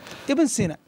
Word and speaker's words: Ibn Sina: Ibn Sina. So Ibn Sina, do you have any more time?